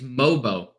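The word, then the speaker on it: Mogbo: just looked it up it's mobo there's the g is silent there we Goan mobo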